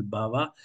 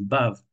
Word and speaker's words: bhava: Je prononce bien le A final bhava parce que j'entends souvent des dévots qui parlent de bave, mais ils mettent même pas le H aspiré, ils disent bave. Mais la bave en français, c'est pas tout à fait la même chose. Et donc le sanskrit est toujours vocalisé à la fin, le A se prononce, c'est ba, donc c'est B-H-A long, bhava.